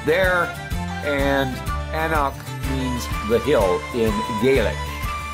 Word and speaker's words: anCnoc: the bottle we see anak and that's right we don't pronounce the C it's Gaelic and it means the hill because the Distillery the